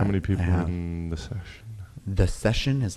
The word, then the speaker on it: Seshen: They're called The Session, and Session is spelled SESHEN. Like Sesh. Yeah, like Sesh.